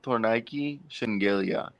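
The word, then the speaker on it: Tornike Shengelia: minutes in a farewell with uh you just butchered that name who who tore Nike tour Nike shingalia t-o-r-n-i-k-e -s-h-e-n-g-e-l-i-a I talked with him for like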